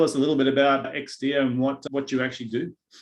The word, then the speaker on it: Exdia: And joining me on the line today, I've got Ed Johnson from Exdia. Is that how we pronounce it, Ed? Yeah, you got it right. Thanks, David. Yeah. Exdia.